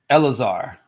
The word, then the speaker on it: Elazar: Oh, so Lazar, your name is pronounced Elazar.